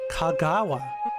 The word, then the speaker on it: Kagawa: Kagawa. I wanted to add an extra syllable.